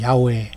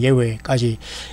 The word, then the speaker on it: 예훼: 예수와인 하나님의 아들 예수 그리스도를 주님으로 고백하는 게, 이 주라는 게 바로 아도나이라고 해서 구약의 여호와, 우리가 가장 가까운 발음으로는 야훼 또는 예훼까지 가장 가까운 발음은 예훼라고 합니다.